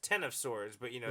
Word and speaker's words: X of Swords: the whole Marvel Universe call it X of swords and pronounced ten of swords but you know like